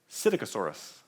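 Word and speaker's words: Psittacosaurus: it starts with the letter p but it's pronounced cydicasaurus and that's from china so we found it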